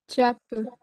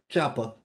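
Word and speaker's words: ceapă: So how would you pronounce this? I gave you the APA because I'm nice. Chapa. Yes, chapa.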